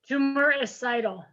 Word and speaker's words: tumoricidal: else knows this but us, include its selective tumor recidal action. How do you say that word? Tumoricidal.